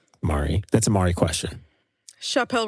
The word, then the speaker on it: Chappell: Did you say Chopin Royale? No. How are we saying this? Mari, say her name again. It's Chappell for the first name, Roan for the last name.